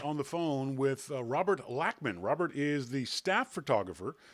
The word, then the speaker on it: Lachman: of your last name is it latchman or lachman lachman lachman robert lochman l a